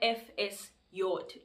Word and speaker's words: FSJ: is this thing so in german language or in this country it's called fs yot i mean fsj but because we pronounce j as yacht in the german alphabet it's actually called ephesud ephesian